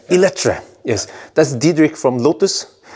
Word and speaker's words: Eletre: How do you pronounce it? Eletre. Eletre.